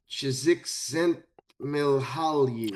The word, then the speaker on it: Csikszentmihalyi: Mihaly Ch- Csikszentmihalyi. How do you spell that?